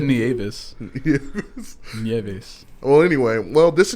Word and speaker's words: Nieves: Nieve? So the S is silent? No. It's Nie- that's the easiest way to Nieves? like tell someone Nieve and then throw an S at the end.